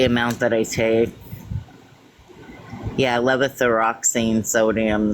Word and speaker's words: levothyroxine: Levoxazine? I can't. There's an R in there, but I can't pronounce it. Levothyroxine.